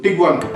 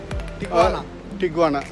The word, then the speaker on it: Tijuana: Tijuana. As per Vijay is Tijuana, as per me Tijuana.